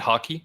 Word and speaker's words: haki: stupid idea yeah hockey is it hockey is that how you pronounce it yes haki yeah but i mean that